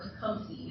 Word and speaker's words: Tecumseh: And Tecumseh, or Tecumseh is how modern Americans pronounce him, and his brother, Tenskwatawa, created a multi-tribe coalition all the way back in 1805.